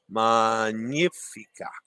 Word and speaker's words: Magnifica: Dennis says, remember that the GN in Italian is always NY sound, like in Spanish, as in lasagna.